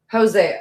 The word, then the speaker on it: Hosea: Pronounced with a ho. What do you mean? Hosea? Hosea? Is that what you mean? Hosea.